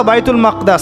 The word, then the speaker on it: বাইতুল মাকদিস: এই বোরাক চলে গেল বাইতুল মাকদাস এটা কোথায় বাইতুল মাকদিস সরি বাইতুল মাকদাস না বাইতুল মাকদিস বিভিন্ন মানুষ বিভিন্ন উচ্চারণ করে এটা হচ্ছে প্যালেস্টাইন কোথায়